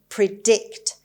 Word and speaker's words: predict: predict it's a verb and the stress is on the second syllable on d predict it means tell beforehand